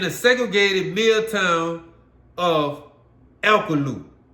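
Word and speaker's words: Alcolu: segregated Mid Town of alalo some some pronounce it El eluku majority pronounce it elu you say it however you want alalo South Carolina where the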